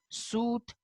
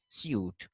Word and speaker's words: suit: So they say suit, while the Britishers say suit.